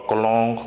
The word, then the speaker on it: Cologne: meaningful that is perfume it's not kalokhe name or cologne or something like that but it's Cologne the next word it's